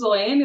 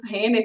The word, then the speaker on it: Hoehne: que é o Dr Frederico Carlos oene ou Frederico Carlos ren como min a pronuncia no alemão que foi o fundador